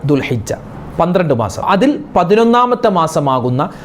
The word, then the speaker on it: ദുൽഹിജ്ജ: അതിന്റെ ഉച്ചാരണം ദുൽഖദ അതുപോലെ ചില ആളുകൾ ദുൽഹജ്ജ് മാസം ഇനി വരുന്നത് നമ്മൾക്ക് ഇനി ഹജ്ജിന്റെ മാസം ദുൽഹജ്ജ് മാസം അല്ലേ ദുൽഹജ്ജ എന്ന് പറയാറുണ്ട് അതുപോലെ ദുൽഹുജ്ജ എന്ന് പറയാറുണ്ട് അതൊക്കെ തെറ്റാണ് ദുൽഹിജ്ജ മാസം ദുൽ കഅ്ദ മാസം